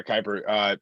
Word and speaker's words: Kiper: Yeah, Kiper.